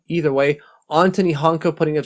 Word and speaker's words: Antoni: I have a hard time pronouncing it because I know it's not Anthony. Either way, Antoni Honka putting up 7